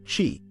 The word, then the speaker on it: qi: Tai Chi emphasizes the cultivation and flow of qi, pronounced qi, the vital life energy that flows through the body.